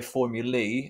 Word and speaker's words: formulae: looking by the way when i say formulae and i'm pronouncing it a bit weird that's just the plural of formula so we say one formula or two formulae and it's felt like that okay so we're gonna